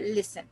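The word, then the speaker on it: listen: सो टी को भी लिस्टन। अब एक्चुअल क्या है? लिसन।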